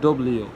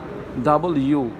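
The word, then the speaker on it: W: কি virus virus এরপরে আছে কি আমরা বলি ডব্লিউ কি ডব্লিউ নো এটা হবে কি ডাবল ইউ ডাবল ইউ ডাবল ইউ এরপরে দেখো সবার নিচে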